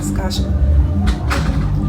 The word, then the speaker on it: Saskatchewan: I can never pronounce Saskatchewan. You got it right yesterday, though. Yeah, today I didn't get it right. Saskatchewan.